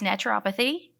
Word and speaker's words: naturopathy: did you've done the i'm not going to say it naturopath i never say it right how do i i was recording something yesterday and i said it wrong uh it's naturopathy so i am a naturopath